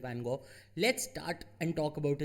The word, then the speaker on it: Van Gogh: foreign it's pronounced differently at different places we'll go with vincent van gaal let's start and talk